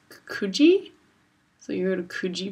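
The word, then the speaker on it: Coogee: here I was saying Coogi Beach because it's spelled c-o-o-g-e-e so I'd be like oh that's cookie Beach turns out it's kuji so you go to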